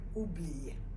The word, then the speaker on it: oublier: Un autre verbe, c'est le verbe oublier.